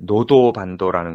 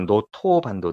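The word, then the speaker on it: 能登半島: 어 어디에요 거기가 이제 노도 반도라는 곳인데 노도 반도 이게 또 일본 발음으로 노토반도 라고요 노토반도 노토반도 예 여기가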